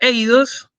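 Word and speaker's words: εἶδος: Entonces, nosotros a fines prácticos vamos a pronunciar el diptongo ei como ei, ¿sí? Eh, Aunque ya sabemos que no es la pronunciación de verdad, a nosotros nos sirve y les facilito la vida porque si no les tengo que decir, bueno, ¿con qué e o con qué i? Bueno, entonces ei, entonces la palabra eidos, ¿sí?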